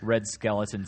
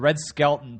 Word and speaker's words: Red Skelton: version of The Onion Red Skeleton start the Red Skelton tired of being mispronounced skeleton yeah I know now